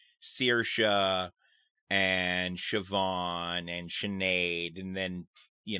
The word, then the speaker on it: Siobhan: it's like the name Siobhan yeah it's not yeah it's not even spelled close to how it's pronounced uh because I know